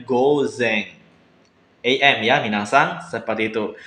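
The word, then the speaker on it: 午前: Jadi go ditambah kanji depan dibacanya gozeng.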